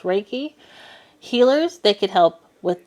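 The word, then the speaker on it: Reiki: believe they're called U it's pronounced raiki healers they could help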